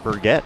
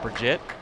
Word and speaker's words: Birgit: It's actually Birgit. Not Bridget. So we have to switch some of the vowels around, but Birgit.